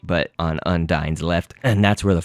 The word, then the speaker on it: Undyne: Again, some people might call this Undyne, but Undyne is the way I guess Toby has shown that it is pronounced.